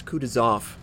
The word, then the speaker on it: Kutuzov: And yes, it's Kutuzov. I look up the Russian pronunciation.